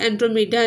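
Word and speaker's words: Andromeda: When परस्यूस एंड एंड्रोमेडा were married, जब परस्यूस ने और एंड्रोमेडा ने शादी रचा ली, हर कोई उसे सेलिब्रेट कर रहा था और हर कोई खुश था।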